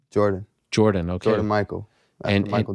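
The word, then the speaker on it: Jordyn: name is gaither okay but you call like it's michael jordan well i just call him jordan that's amazing but it's spelled j-o-r-d-y-n oh interesting okay interesting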